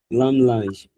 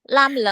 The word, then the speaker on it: Lammlangue: How do you pronounce that, sir? Lammlangue.